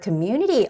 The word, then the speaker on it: community: the power of community the word Community also has a very tricky stress which is Community on that u vowel community community can achieve